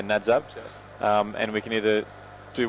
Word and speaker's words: Nadzab: We will do at least one landing at so I can pronounce it right again. Nadzad. Yeah, Nadzab.